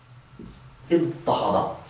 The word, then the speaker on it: اضطهد: After that dad, we're going to change the ta of the pattern to a ta to get iddahada, a verb that means kind of oppress.